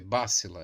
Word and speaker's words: Bácila: É, Aqui ela disse, é Bácila, ela colocou aqui a pronúncia do nome dela. Então acho que a gente estava acertando, né? Com acento, né?